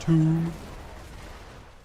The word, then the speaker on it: tomb: sense in English because why is there a B in the word if the B is so silent? Why is tomb pronounced tomb?